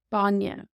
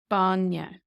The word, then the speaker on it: bainne: Banya, Banya, milk.